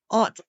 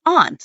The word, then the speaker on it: aunt: I'm not as picky as Aunt Eric. Oh, here's the deal. I have to make sure I say it right every time I say General it. Hospital fans. You should. It's aunt.